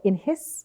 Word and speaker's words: INHIS: be using this technology so your company's called in his is that how you say it correctly it